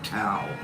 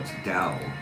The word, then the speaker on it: Tao: Dow or tao. And we finally decided or finally looked it up and after knowing it's dow, even though it starts with a T, it sounds like it starts with a D.